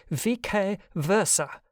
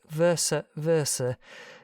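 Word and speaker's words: vice versa: enabled me to correct in strict pronunciation they should have been sounded vk versa but in those young years they impressed me with more ore than they would now read a right from seneca or varro in his own peculiar pronunciation monosyllabically elaborated or anglicized into something like versa versa by an imposing manner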